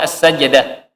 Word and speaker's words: As-Sajdah: Surah jimnya mati kah? Fathah kah? Nah, yo Tuhan sudah ada tahu ya. Fathah. Nah, yang masyhur itu sukun, as-sajdah. Surah apa? As-Sajdah.